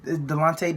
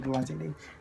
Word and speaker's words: Delonte: um by the thumbnail uh delante davis with the yeah what have you pronounced it i mean the delante west i said delonte did i say west